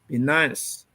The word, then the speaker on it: Binance: Binance is actually finance spelled with, replace F with B, Binance.